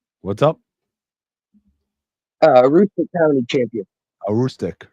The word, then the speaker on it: Aroostook: And, am I pronouncing it correct? It's Aztok champion or Aroostook County, what's up? Aroostook County champion. A Rustic, right?